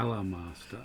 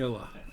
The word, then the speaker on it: Elemaster: Is that spelt with an A? Sorry, finish your fill. Okay. Nyx is the Dark Allah Master. ELEMASTER. Ella, yeah, okay. Ella. Okay, As Ella. as in the element.